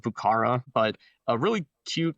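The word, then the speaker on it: Vieux Carré: Um it's it's called Bukara. It's spelled uh V E V I E U X. um C A R R E, but it's pronounced Bucara.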